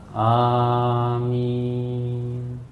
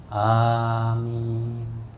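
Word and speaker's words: آمين: Kita langsung ucapkan waladhdallin amin. Perhatikan Pak bacaan amin. Amin, ya. Cara membacanya adalah A itu 2 ketuk, min itu bisa sampai 6 ketuk.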